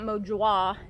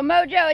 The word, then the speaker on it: Mo Jeaux: here in the south EA u X is pronounced Oh so for some y'all it's not mojo it's not mojo wah it's mojo real simple well I think it is so you know mojo it doesn't come from